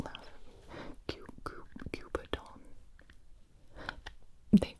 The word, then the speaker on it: cuberdon: This is the, I think you're supposed to pronounce it French-like, the Cupidon, don't laugh at me, Cupidon.